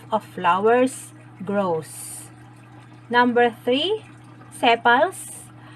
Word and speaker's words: sepals: flowers grows number three sepals pronounced as sipas in closes and protects